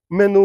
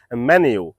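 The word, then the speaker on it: menu: গেলে আমরা দেখতে পাই কিন্তু এই শব্দটি আসলে মেনু না এই শব্দটির সঠিক উচন হবে ম্যানিউ আই can repeat it's ম্যানিউ আই can repeat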